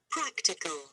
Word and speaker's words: practical: So you underline the first syllable. The next one. Practical.